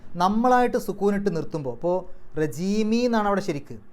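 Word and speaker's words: الرجيم: നിയമങ്ങൾ നോക്കാം ബില്ലാഹി മിനശൈത്താനി റജീം അവസാനത്തെ മീമിന് സുക്കൂൻ ഇട്ടിട്ട് നിർത്തുക അപ്പൊ അതിന്റെ തൊട്ടുമുമ്പുള്ള നീട്ടലിനെ നമുക്ക് ആറ് അക്ഷരത്തിന്റെ ദൈർഘ്യം വരെ നീട്ടാം അതിനെ മദ്രി എന്നാണ് പറയുക അതായത് ഒരു ആയത്തിന്റെ അവസാനത്തിൽ നമ്മളായിട്ട് സുക്കൂൻ ഇട്ട് നിർത്തുമ്പോൾ അപ്പൊ റജീമി എന്നാണ് അവിടെ ശരിക്ക് ആ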